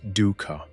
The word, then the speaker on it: dukkha: The word dukkha, pronounced dukkha, points toward this deep unease.